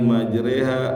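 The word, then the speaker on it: مجريها: Maka Nuh berdoa, bismillahi majreha wa mursaha, ya, dengan nama Allah yang pada waktu berlayar, wa mursaha, dan pada waktu berlabuh. Nah, ini imala, ya. Imala itu huruf fathah jadi kayak kasroh bacanya, majreha wa mursaha, inna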